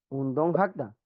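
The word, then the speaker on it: 운동하다: Muy bien, ¿cómo lo pronuncias? Eh, un, un don hada. Un don hada. Un don No, hada. suave. Y si le quiero poner la partícula. Un don, voy suave. Ujú. Un don ul hada.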